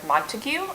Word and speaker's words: Montague: Montague is how I pronounced it when I was reading it. I don't know if that's the proper pronunciation, but anyway, doesn't matter. Yeah, Montague, like the House Montague.